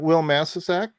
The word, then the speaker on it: Wil Masisak: You were like, Wil Masisak?